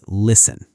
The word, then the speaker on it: listen: Quick pronunciation moment. I love these. Say the word listen.